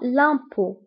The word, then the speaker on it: impôt: وانتبهوا بالنسبة للأو فكنكتبوها بأكسن circonflexe. L'impôt. وتف آخر الكلمة لا تنطق. دونك الضريبة هي l'impôt.